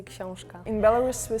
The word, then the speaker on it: Książka: In Poland, we say książka. In Belarus, we say kniha. In Slovak, we say kniha. What happened? What did you say? Książka. It sounds like koshka, like cat.